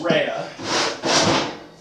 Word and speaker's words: Rea: But it is spelled R-E-A. Now what does that say? It says Rhea.